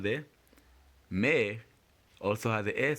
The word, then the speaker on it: mais: Mais oui. In the word mais, AI again produces the air sound. Remember, the S at the end is silent.